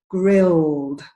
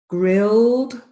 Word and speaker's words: grilled: with this IDI ending this is very typical for Spanish speakers to get an extra syllable at the end all of these words do not have an extra syllable so the pronunciation is called grilled based steamed and served yeah I'll do them